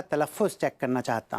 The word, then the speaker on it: तलफ़्फ़ुज़: पहले मैं आप लोगों का तलफ़्फ़ुज़ चेक करना चाहता हूँ। फ्यूज चेक करोगे? फ्यूज? अबे फ्यूज़ नहीं, तलफ़्फ़ुज़। तलफ़्फ़ुज़ मतलब प्रोनंसिएशन, उच्चारण।